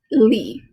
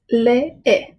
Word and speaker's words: lee: You might assume this is pronounced li. It's not li. It's lee. I know it's odd.